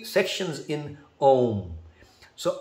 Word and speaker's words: Om: But the fact is that the ma sound is the purer one, because that's the only sound that you can make with your lips shut.